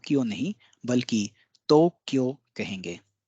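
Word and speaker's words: Tokyo: से जानते हैं और इसका उच्चारण भी हम दो क्यों करते हैं लेकिन आपको आश्चर्य होगा कि इसका उच्चारण या जो एक्चुअल जो शब्द है वह है तो क्यों तोक्यो तपे ओ की मात्रा वह आधा क यो तो क्यों है तो क्यों है तो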